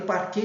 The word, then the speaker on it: parquet: Eu falei parquet, então parquet se escreve P-A-R-Q-U-E-T, mudo, porque é uma expressão francesa, parquet.